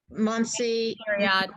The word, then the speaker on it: Monsey: Well, Muncie. Joel, yeah. It's spelled Monsey, and Kiryat Yoel is also another community there.